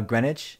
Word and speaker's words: Greenwich: i've never heard of christie's green witch it's pronounced uh greenwich yeah thanks laura could have wagered oh okay